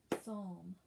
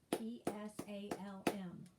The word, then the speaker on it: psalm: hear that l but the p definitely is silent and they're also saying that l is silent just like they said